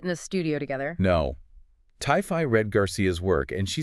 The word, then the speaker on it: Ti-Fi: That's pronounced Ti-Fi.